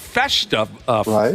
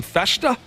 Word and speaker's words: Festa: David Festa is how you say the name, Festa?